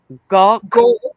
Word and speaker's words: Gawk: Gawk. as in like I'm gawking at you, gutters, Gawk. looking at you.